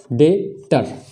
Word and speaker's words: debtor: तीसरा हमारा देखते हैं DEBTOR। इसमें भी हम लोग देख पा रहे हैं कि टी से पहले बी आ रहा है, तो इसमें भी बी का उच्चारण नहीं किया जाएगा, तो इसका उच्चारण क्या हो जाएगा, डेटर, है ना, डेटर।